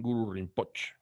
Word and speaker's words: Guru Rinpoche: Pronunciado nosotros decimos Guru Rinpoche. Los tibetanos dicen Guru Rinpoche. La E prácticamente es muda.